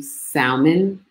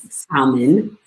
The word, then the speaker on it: salmon: narrowing it down to salmon at number one and yes i said salmon and not salmon um salmon because on the east coast we pronounce the l so no little who's